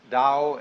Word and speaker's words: Tao: is Paul the Dao Tao pronounced Dao in the Mandarin dialect Tao in the changhai